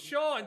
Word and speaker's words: Sean: pronounce your name, but I'm I'm sure I butchered it. Oh, it's Shaun. GOSH. OH MY GOD. Complete typo. Holy crap. Oh my god. I don't know where I got Ben from. My bad, Sean.